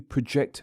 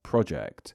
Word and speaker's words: project: Most English speakers will correctly pronounce it as, I had to project my voice while sharing my class project. And when you say it